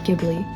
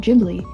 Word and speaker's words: Ghibli: it because for a very long time i pronounce it ghibli but then one time i watched the behind the scenes and the person in the behind the scenes on the dvd said ghibli so that really cut me up for a